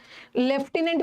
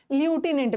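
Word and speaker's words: lieutenant: इसको आज के डेट में ना लेफ्टिनेंट भी बोलते हैं, आर्मी वगैरह में जो होते हैं ना लेफ्टिनेंट जनरल, ल्यूटिनेंट भी बोलते हैं। इसका दोनों प्रोनाउंसिएशन है, ल्यूटिनेंट भी बोल सकते हो और लेफ्टिनेंट भी बोल सकते हो।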